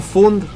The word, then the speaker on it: Fund: No, así como se escribe suena. Perfecto, es como funda, pero sin A.